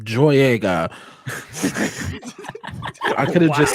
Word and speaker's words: Boyega: We all know his name rhymes with Don Joyega.